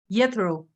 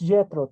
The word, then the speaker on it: Jetro: Then we have Yetro. Is that okay? The pronunciation of your name? It's Jetro, teacher.